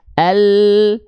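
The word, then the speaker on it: الَّذِي: Sehingga ketika kita lafalkan, pelafalannya begini, bukan hanya ujung akhir lidah saja, al, tidak, tapi alladzi, alla, bukan Allah, enggak.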